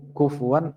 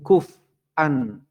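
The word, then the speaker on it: كُفُوًا: Ada juga yang cara membacanya walam yakul lahu kuf'an ahad. Tapi kalau dibaca walam yakul lahu yang banyak salah teh walam yakul lahu nah, kuf'an ahad itu ada, kufuwan ahad ada, itu yang kita baca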